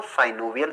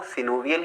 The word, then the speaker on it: synovial: कुछ लोग सिनोवियल joint को साइनोवियल जॉइंट भी पढ़ते हैं। वैसे जो करेक्ट प्रोनाउंसिएशन है दोस्तों वो सिनोवियल ही है, लेकिन अगर आप साइनोवियल पढ़ लेते हैं तो इसमें आपको कोई प्रॉब्लम नहीं होने वाली है। दोनों ही एक्सेप्टेबल हैं, सिर्फ आपको समझ में